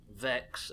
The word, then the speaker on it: Vex: Vex rhymes with Pokedex.